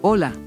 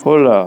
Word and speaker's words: hola: Hola. Hola. Pedro. Hola. Hola. It's not H, so it's hola, but it's spelled hola. Okay, this is gonna be tricky.